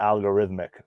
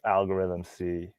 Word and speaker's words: Algorythm-C: yeah and it is algorithm c uh i was calling him algorithmic for a while um but we've learned since then that is algorithm c getting better with it